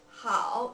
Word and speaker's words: 好: We pronounce it hao in Chinese.